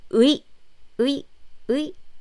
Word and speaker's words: 의: When you pronounce it quickly, it sounds like this. 의. Yes, it's 의. So, doctor in Korean is 의사. So it's 의. It's clearly 의.